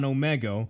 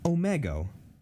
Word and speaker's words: Omegle: you when you were going predator hunting on Omegle, and then I went to your stream and told you that you did it wrong.